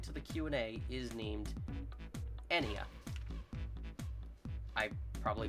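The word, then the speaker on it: Ennea: And if you're curious, her other daughter, since it's never said in the game, according to the Q&A, is named Enya. I probably butchered the pronunciation, spelled E-N-N-E-A.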